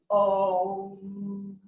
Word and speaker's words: Om: It has 3 syllables. O, U, M. So I want you to just start with that for a moment. Om.